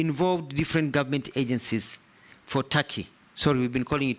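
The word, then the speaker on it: Türkiye: made by it is not called tur it's tury it's only written te but it's pronounced Taki thank you I that is the name of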